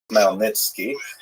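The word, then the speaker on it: Khmelnytsky: It's actually pronounced Melnitzki with a gut beginning.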